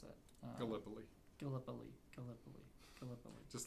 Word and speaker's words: Gallipoli: It's like it's a name that like I don't even know how to pronounce it. Gallipoli.